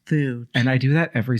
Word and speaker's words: F.E.W.D.: been volunteering with Community Feud and it's been it's actually pronounced food and I do that